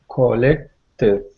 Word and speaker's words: collected: Okay, so the original word is 2 syllables. Collect. When you Okay. add the ed ending, we've got collected. Is it okay? Collected. Collected. So that means we're putting the id ending on it.